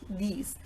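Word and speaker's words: dix: moi oddly for example ten these is normally pronounced these as I have told you in the first example and in the second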